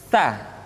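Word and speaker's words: ت: Tanita Hai berikutnya huruf tah t-shirt dikeluarkan dengan menyentuhkan ujung lidah kita dengan dinding dua gigi seri bagian atas Hai diucapkan dengan suara dan nafas yang terdengar mengalir Hai sahabat Add to basket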